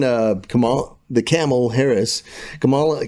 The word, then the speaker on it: Kamala: Uh remember when uh Kamal the camel Harris Kamala came, it's Kamla, whatever. I already forgot how to say it right.